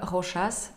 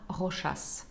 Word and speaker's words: Rochas: И напротив, марка Rochas читается со всеми буквами. На нее, как на марку, грамматические и ортографические правила не распространяются. Это не Rocha, а Rochas.